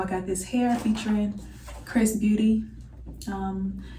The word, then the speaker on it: Xrsbeauty: got this hair featuring chris beauty um it's xrs beauty but the pronunciation is chris beauty um so yeah they